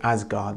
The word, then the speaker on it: Asgard: that is god uh i'll probably pronounce it asgard because i think that's how it's entered into you know anglophonic speech nowadays people say as but